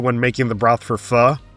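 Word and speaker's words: phở: making the broth for fur. Yes, it's pronounced fu, not fo to the dismay of every Vietnamese restaurant in America.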